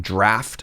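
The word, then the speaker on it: draught: Anyways, I believe drot is pronounced draft for unknowable reasons.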